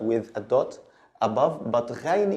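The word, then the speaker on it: غين: The next one is ghain, ghain. It's written like ayn, but with a dot above, but ghain is pronounced like the French R, gha, ghain, ghain.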